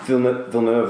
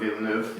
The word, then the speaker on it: Villeneuve: Denis Villeneuve, I don't know how to pronounce his last name, I think it's Villeneuve, maybe, potentially. I'm looking at Chris here for some... I've always gone with Villeneuve.